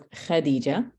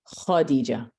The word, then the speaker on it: Khadija: It's kha. Okay, so it's Khadija and not Khadija.